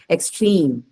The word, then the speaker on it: extreme: case of adjective also some adjectives are stressed on the last syllable if there is a long vowel sound or diphthong in it the example you have here is complete extreme right usually what is the